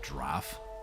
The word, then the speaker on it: draught: One thing I might be missing is like a draught or something. Or as I've been told many times, it's pronounced draff.